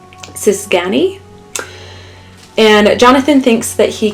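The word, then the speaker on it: cigány: g a n y if I were to attempt to pronounce it which I apologize if I do so inaccurately would be the sisani and Jonathan thinks that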